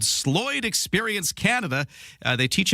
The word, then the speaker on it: Sloyd: Now, first, my very first question, am I pronouncing this right, Sloyd? That's correct. Sloyd Sloyd Experience.